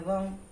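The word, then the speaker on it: वं: तो पहले चक्रा का उच्चारण है लम, दूसरे का है वम और तीसरे का है रम।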